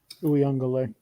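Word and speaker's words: Uiagalelei: They call him by his actual name pronunciation. Uyunglele. Uyunglele. Yeah, that's what they were saying. Quite a few too many syllables.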